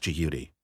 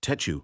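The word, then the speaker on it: Djehuty: doad was venerated with DH wty pronounced Judi jihi jihi toi Tudi sahudi tetu or tetu as the leader of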